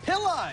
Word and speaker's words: Pilla: Pilla, you said it right. I said it right. I always thought it was Pillow, but you corrected me.